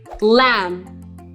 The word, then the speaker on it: lamb: Lamb. Not lamb. In words that end in MB, the B is silent.